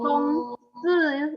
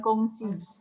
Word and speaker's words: 公司: Kalau kongsi itu SI itu bacanya se, bukan si. Jadi bukan kongsi. Kongsi. 公司，公司很好。